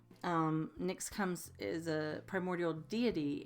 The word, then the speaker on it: Nyx: next and my ex just like the cosmetic Nick's comes is a primordial